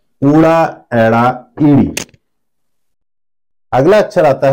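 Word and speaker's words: ਐੜਾ: एड़ा कुछ इस तरह से लिखा जाता है। इसको पंजाबी भाषा में हम कहते हैं एड़ा।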